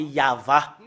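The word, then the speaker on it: יהוה: de prononcer le téragramme c'est ça qu'on le prononce c'est yava parce que nous voyons déjà et voilà c'est ya la première partie voilà voilà c'est et l'autre partie c'est va et cette partie là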